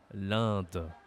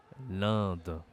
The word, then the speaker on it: l'Inde: la Gambie l'Inde l'Inde attention ici pour prononcer ce pays tu dois utiliser ton nez c'est une voyelle nasale l'Inde l'Inde OK les naasal c'est